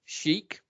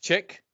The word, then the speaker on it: chic: And if you are not able to pronounce the word chic and you instead pronounce it chick, I'm not a grammar Nazi.